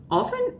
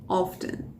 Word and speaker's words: often: never you remember that the word often has two pronunciations yeah often and often some people can use